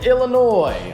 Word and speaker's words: Illinois: okay and drew in Illinois I always pronounce the S in Illinois I know that it's not really my fav anyway it seems